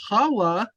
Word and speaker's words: Hawa: Now, see, Hawa is the proper way to say the name of Eve.